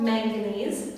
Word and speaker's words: manganese: The blues and grays and blacks are from a mineral called manganese, rhymes with mac and cheese, makes it a little easier to remember.